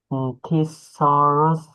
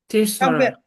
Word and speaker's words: thesaurus: Tissaurus. Good. Pretty good. Thesurerus. It's pronounced thesurerus.